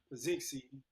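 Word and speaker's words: Petzing: They they talking about working out working to finance a deal that will make former Cardell's offensive offensive coordinator Drew Pazi, that's how you pronounce his name, the next offensive coordinator, coach.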